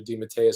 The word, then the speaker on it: DeMatteis: to say it and i switched from damatus over to demateus because it's the right way to say it and it sounds a